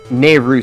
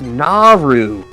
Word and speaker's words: Naru: But now that I know more about Japan and how their pronunciation works, yep, I'm like, oh, I was reading it wrong as a kid. It's Naru.